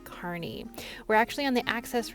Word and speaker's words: Kearney: If you're not from Nebraska, you might think it's pronounced Kearney, but it's Kearney.